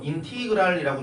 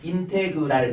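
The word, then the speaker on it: integral: 읽을 땐 인테그랄이라고 읽어. 뭐 인티그랄이라고 읽는 사람도 있고 인이그랄 이런 사람도 있어. 되게 다양하지만 쌤은 또 애국자이기 때문에 인테그랄 이렇게 읽을 거예요.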